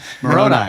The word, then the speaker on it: Moroni: encounter that he supposedly had with the angel Moroni or whatever. It appears to him in the middle of the night. Moroni? Yeah, that's what Italian? However you say it. How do you say it? Moroni.